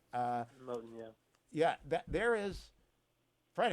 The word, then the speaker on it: Moten: But I am bewildered by Afropessimism, and by the way, by a couple of the other intellectuals, Monet, if I'm pronouncing that right. Moten, yeah.